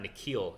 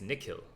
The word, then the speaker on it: Nikhil: So like, your name's not Nikhil, it's Nikhil. And so then she tells me how she knows, and I go back to my mom, I'm like, Mom, like, how do I say my name? And she says, it's Nikhil.